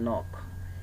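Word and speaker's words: knock: এটা অতিরিক্ত আসলে, এটা হচ্ছে যে মানে আমরা যদি খেয়ের পরে যদি এন আসে, তখন এই খেই আমরা চাইলে কি করতে পারি, খেইটাকে মানে বাদ দিয়ে কিন্তু আমরা উচ্চারণ করি, সেটা বোঝানোর জন্য এভাবে লিখে দেখানো হয়েছে। আসলে আমরা খেইটাকে কিন্তু উচ্চারণ করি না। যেমন এখানে দেখেন নক, এই যে এনওসিকে, এটা কি নক হয় না?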